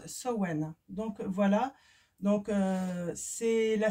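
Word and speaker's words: Samhain: allons fêter en fait alors ça se prononce ça se prononce c'est le sabbat de sewen donc ça s'écrit samhd1 n mais ça ce provenance semaine donc voilà donc c'est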